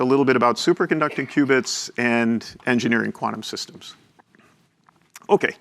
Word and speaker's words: qubit: certainly it's the soft Ware not the hardware cubits are quantum bits we pronounce it Cubit and we spell it this